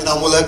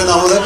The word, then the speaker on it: Inaamulhaq: एंड a little correction, मेरा नाम बड़ा बिगड़ता जा रहा है। मैं शहर में नाम कमाने आया था, कभी स्पेलिंग और कभी प्रोनाउंसिएशन। मेरा नाम इनामुल हक है एंड आई एम नॉट a tourist. My name is इनामुल हक एंड आई एम नॉट a tourist, so please make a correction.